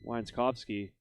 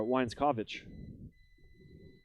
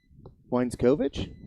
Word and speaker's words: Weinzkovich: the only change is uh weinzkovsky or sorry uh weinzkovich i do believe the name he goes into left field where hepler was kepler now in center weinzkovich kovich thank you i